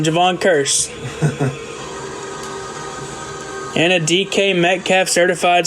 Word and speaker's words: Kearse: that's nice Javon Cur I'll say it right for Genesis one time Javon Cur and a DK metf